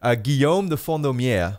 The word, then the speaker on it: Guillaume de Fondaumière: is called, and I gotta make sure I pronounce his name right, Guillaume de Fondaumière.